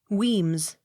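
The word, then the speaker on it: Wemyss: not sounded w e m y s s weems w i l l o u g h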